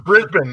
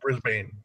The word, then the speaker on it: Brisbane: and it's Brisbane not Brisbane oh I'm pronouncing it